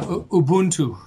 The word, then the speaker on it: Ubuntu: that and how it works in the US Ubuntu is that how you pronounce it yeah Ubuntu Ubuntu Ubuntu yeah let let's talk about the